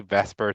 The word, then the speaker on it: VSEPR: I know it's spelled VSEPR, but we just say VSEPR to make it a little easier.